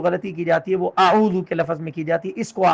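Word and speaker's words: أعوذ: اعوذ کے لفظ کو حمزہ کی جگہ سے، عین کو عین کی جگہ سے پڑھنا یہ ضروری ہے. اعوذ، اعوذ باللہ بالکل غلط ہے.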